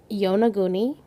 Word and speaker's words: Yonaguni: Yonaguni, why it's spelled just like it sounds.